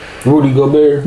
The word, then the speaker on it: Rudy Gobert: Rudy Gobert.